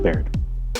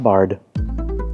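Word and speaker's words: Baird: It's pronounced Bar, not Bard or Bay Red or Bay Max.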